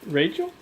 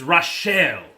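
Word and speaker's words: Rachl: What's that name Marcus like how would you pronounce that Rachel no it's rashelle my eyes are watering now goddamn right there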